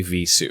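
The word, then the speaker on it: Vheissu: whether it's Visu or Vaisu. It has to be Visu because it has the V sound in it.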